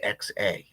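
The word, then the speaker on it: häxa: because that is the hexa ha AXA is how you pronounce it and spell it by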